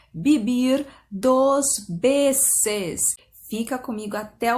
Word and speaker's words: Vivir dos Veces: Já começo com uma dica de pronúncia, pensa que é tudo B no lugar do V, tá? Então você vai pronunciar Vivir dos Veces.